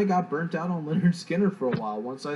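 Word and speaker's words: Lynyrd Skynyrd: And first one I'm showing is Leonard Skinner, pronounced Leonard Skinner.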